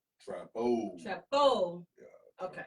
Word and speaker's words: Trappo: Trappo. Trappo. Yeah. Okay. Trappo, like So- Chapo.